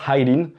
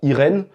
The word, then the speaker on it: Eileen: petite parenthèse au passage je prononce eileen celle qui est la prononciation japonaise en français on pourrait prononcer ça irène mais eileen ça se rapproche plus de la prononciation anglaise je dis ça parce